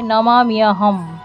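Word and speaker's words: নমাম্যহম্: যেহেতু ময় জ ফলা আছে তাহলে শুদ্ধ সংস্কৃত উচ্চারণ হবে মিয় তাহলে এটিকে ভাঙলে হবে নমামিয়াহম জয় নিঃসিংহ শ্রী নিঃসিংহ জয় জয় জয় শ্রী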